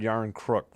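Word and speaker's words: Järnkrok: Looks like it's Jankrok, Jankrok, or Yarnkrok. I keep forgetting how to say his name. I got to look it up. Yarncrook. Okay. I heard Yarncrook from OEL.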